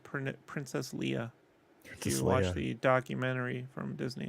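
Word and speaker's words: Leia: to uh remind you jason that um it's pronounced prince princess leah watch the documentary from disney it's official now so i said it myself leah it's like thompson yeah what does this have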